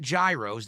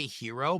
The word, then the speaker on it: gyro: Actually, two acceptable pronunciations are gyro and yurro.